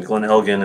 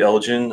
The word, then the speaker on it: Glen Elgin: look at the pronunciation Glen Helghan is the the proper way I know some Americans do Elgin which is more of that soft J sound but uh from what